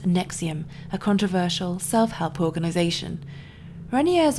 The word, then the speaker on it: NXIVM: and the founder of nxivm pronounced Nexium a controversial self-help organization